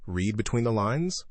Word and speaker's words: read between the lines: Read between the lines. Pronunciation. The, d, in, read often gets softened before between. It sounds like between the lines in fast speech.